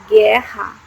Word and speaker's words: guerra: To have the sound G and G, the letter G needs to precede the letter U.